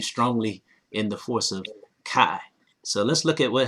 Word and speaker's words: qi: kind of like karma is pronounced kai and you can also spell it k i but in scrabble it